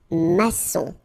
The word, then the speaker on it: maçon: Here you can see that we've got this little cédille beneath the C, okay? And it just means that you will pronounce this C as S, okay? So that's the reason why. It's un maçon.